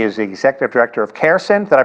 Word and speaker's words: CARECEN: He is the Executive Director of CARECEN. Did I pronounce that correctly?